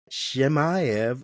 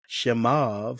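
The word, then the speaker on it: Chimaev: You got Drius Duplex Coo versus Hamzat Shmayv or Shimov. Some some pronounce Shimov, but Hamzat Shimov, however you want to pronounce it.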